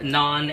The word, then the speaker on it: non: tajiki Style tajikistani Style and it is called non n o n but you can spell it either way it doesn't really matter uh